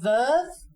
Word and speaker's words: Veuve: which is a big no no you say Verve uh again it's Verve C and if you